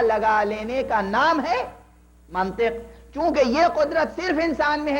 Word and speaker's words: منطق: تھا کہ منطق سے لفظ منطق ہے عزیزو، منطق نہیں ہے۔ یہ بھی عرض کر دوں، یہ محلی لہجے ہیں، بہت سے لوگ منطق توئے کے زبر کے ساتھ استعمال کرتے ہیں، یہ غلط ہے۔ منطق ہے، علم منطق